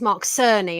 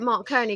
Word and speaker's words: Mark Cerny: mark kearney although i i think i pronounced this mark cerny and then i got brutally corrected and so you get mark kearney go over to his